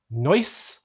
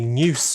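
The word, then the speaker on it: Neuss: which is near Dusseldorf I hope I pronounce noise right a bit hard to say that in English without spelling it'd be news in in English if I pronounced it in a British way but here we go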